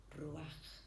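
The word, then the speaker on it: רוח: Y en hebreo se pronuncia ruaj.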